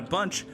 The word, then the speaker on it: bunch: Well, I've got a bunch of words that rhyme with unch, so it's bunch.